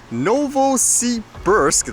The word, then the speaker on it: Novosibirsk: So the title of this video says Novosibirsk, that's how you say it, to intimidate and to rob.